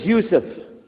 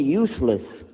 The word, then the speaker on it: Yusuf: My name is Yousef. Can you say Yousef? You said Yousef. You're very good. I wish you teach my wife. She keeps mispronouncing it. She calls me useless.